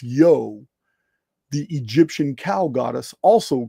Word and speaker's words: Io: of their culture, Ionia, from Io, pronounced Yo, the Egyptian cow goddess, also called Hathor.